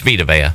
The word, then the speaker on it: Vita Vea: It's Vita Vea.